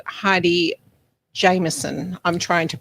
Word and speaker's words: Heidi Jameson: I was introduced to Kyle through a lovely lady called Heidi Jameson. I'm trying to pronounce her name correctly now.